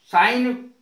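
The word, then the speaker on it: sign: जैसे साइन में देखो साइन में जी नहीं बोला जाएगा उच्चारण नहीं होगा इसका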